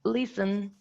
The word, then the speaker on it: listen: as you can see there's no voiceless alveolar plosive sound if you pronounce listen it's wrong it's wrong it's listen yeah I mean if